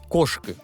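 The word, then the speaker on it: Кошкы: Например, глаголы повелительного наклонения. «Кошки», что означает «уходи». Ударение ставится на первый слог и в отрицательных формах глагола.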